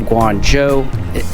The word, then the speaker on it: Guangzhou: All right, in Shenzhen, but taking a side trip to the city of Guangzhou. Am I pronouncing that right?